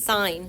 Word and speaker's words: sine: So, again, the S stands not for sin, it's sine. So we're going to write the word sine here, sine.